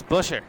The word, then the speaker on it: Buescher: guy next to me it's not Boucher it's Chris Buescher I just think Boucher